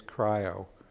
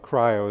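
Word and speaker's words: Kryo: If it's a Java object, I need to serialize it, and we use cryo, which I think is the correct pronunciation currently. That is somewhat configurable, but not so much by end users yet.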